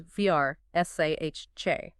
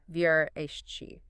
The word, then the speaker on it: Versace: The preferred pronunciation, and the one that's closer to the native Italian, is Vrsace, not the common anglicized version, Vrsace.